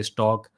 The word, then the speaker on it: stck: is where you go i say stck because it's supposed to be pronounced stack but some people say take some say stock i don't know what